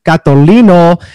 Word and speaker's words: Catolino: just a great pronunciation i'm just honored you pronounced my last name correctly thank you i i before i hit the record button i wanted to make sure and i said i want to say the italian way so hopefully that came